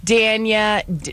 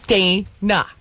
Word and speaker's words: Dayna: What you just said, Danya, Danya, Denisha, Right. Whatever. It's never. Nobody ever gets it right. And it's really very simple. Dayna.